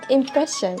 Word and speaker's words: impression: So impression. Yeah, impression stressed on the second syllable, right?